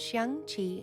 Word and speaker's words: Xiangqi: Chinese chess, pronounced Xiangqi in Chinese, is a board game sometimes also referred to as elephant chess.